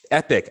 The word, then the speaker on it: epoch: So if one Epic, C Poopster, Epic, I looked it up. That's how you pronounce it. So Thank you. I appreciate that. I will forever use Epic instead of Epoch, although